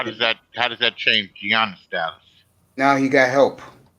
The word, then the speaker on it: Giannis: If they could add a player, you know, they're supposed to be able to trade for Giannis. That's how you pronounce his name? Milwaukee. Yeah, Giannis.